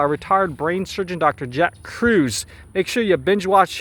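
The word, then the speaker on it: Kruse: Jack Cruz.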